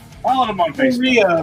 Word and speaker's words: Correia: Korea, like the country.